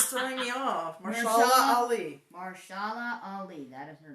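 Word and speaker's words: Mahershala Ali: Marshala Ali, that is her name. Basically, the other A is silent.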